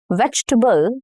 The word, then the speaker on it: vegetable: So in vegetable veg t.